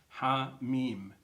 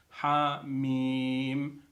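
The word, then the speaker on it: حم: They're drawn in a connected way, and yet they're pronounced separately. Ha, Mim.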